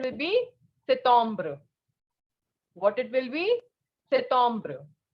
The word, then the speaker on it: septembre: And the pronunciation will be septembre. What it will be? Septembre. First of all, P will not be pronounced. And second, the sound of EM is O. So it is septembre.